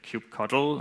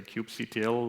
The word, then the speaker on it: kubectl: There is a bit of a dispute how to pronounce it. Some say kubectl, and some say kubectl or whatever.